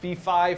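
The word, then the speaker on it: phi: F or fi symbol Fifi fum fum symbol refers to it's a Greek letter F but I think it's often informally pronounced fi I don't know why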